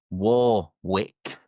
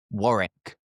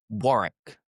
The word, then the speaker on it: Warwick: And the third is what you might be thinking. Warwick. Mhm. It is actually pronounced Warrick. Warrick.